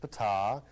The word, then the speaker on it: Ptah: That's pronounced Ptah.